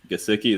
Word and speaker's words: Gesicki: I just don't like what I've heard from Mike Gesicki, is how you say his last name, but